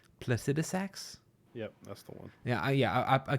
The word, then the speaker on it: Placidusax: Placidusax, yeah. How do you say that? Placidusax? Placidusax?